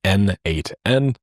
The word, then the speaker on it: n8n: Uh, it was written by the creator himself and he says that it means nodemation and it is pronounced as N8N.